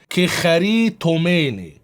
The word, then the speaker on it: κεχαριτωμένη: This Greek word is supposed to be pronounced "κεχαριτωμένη", We try to memorize the form of the word and open the E-sword program and see the result.